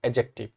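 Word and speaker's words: adjective: यहां पर क्या ध्यान रखेंगे कि ए और जे के बीच में जो डी आता है व डी को नहीं पढ़ा जाता है ए और ज के बीच में जो डी आता है उसका उच्चारण डी का नहीं होता है इसको पढ़ते सही सही एडजेक्टिव है और तीसरा जो कैटेगरी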